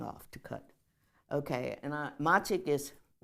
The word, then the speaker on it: Machig: Okay, and Machik is, and sometimes you'll see that spell Machik. Machik. Machik with a K. With a K instead of a G, okay? It's just how you pronounce it.